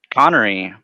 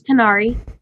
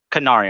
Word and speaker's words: Qunari: go through all right connery is that how you pronounce that on make sure no i'm sorry no it's qunari kanari okay all right and